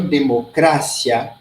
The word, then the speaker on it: democracia: diferente heterotonicos por exemplo em português a gente diz democracia em espanhol democrácia certa a se heterotonicos